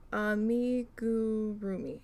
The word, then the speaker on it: amigurumi: Amigurumi.